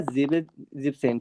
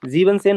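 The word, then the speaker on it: siebzehn: Jackson ये हो जाएगा जिप्सन ठीक है ना जीबन मत कर देना इसको ठीक है ना जीबन जीबनसेन मत कर देना यह हो जाएगा जिप्सन ठीक है जिपसेन और यह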